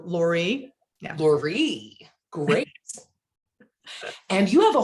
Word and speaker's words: Loree: name right laurie yeah accent on the last part kind of like marie so lori laurie great and you have